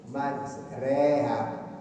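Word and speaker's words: مَجْرٰىهَا: nama Allah fiha, bismillahi majreha, tulisannya majroha, dibacanya majreha. Ini disebut apa? Imalah ya, imalah ya, disebut imalah.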